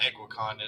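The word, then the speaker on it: Kingsley Eguakun: He's going to be the center, and I definitely know that Egwakon is the correct pronunciation for that.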